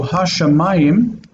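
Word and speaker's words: הַשָּׁמַיִם: So ha-shamayim is ha with dagesh in the shin, and shamayim.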